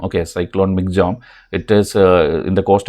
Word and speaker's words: Michaung: So that time this cyclone name, first you have to know, this is pronounced as this Michaung. Okay, cyclone Michaung.